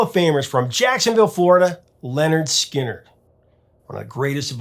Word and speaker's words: Lynyrd Skynyrd: for their debut lp pronounced leonard skinner allen began playing his